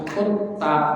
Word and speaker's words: Kuttab: Al-kutab bi dhammil kaf wa tasydid ta. Al-kutab dengan dhammah kaf dan tasydid ta. Kutab gitu ya. Bukan kata, bukan kutab, tapi kutab bacanya gitu. Maka pengejaan dengan bahasa Latinnya T-nya harus dua.